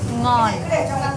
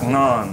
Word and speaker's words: ngon: She corrected some of my pronunciation that I didn't quite have nailed down. Still can't say nom. Ngon. Ngon.